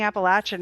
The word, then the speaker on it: Appalachian: You're from Michigan and only ever heard of Appalachian pronounced how I do it. Oh, yay. I didn't know it could be said and different until social media. Same. Same. I heard people saying Appalachin and I was like, what's that?